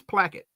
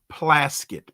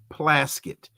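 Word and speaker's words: Plaskett: Her last name is Placket. Um uh and uh I'm sorry, it's Plaset. P L A S K T. Plasuit is how you pronounce her last name.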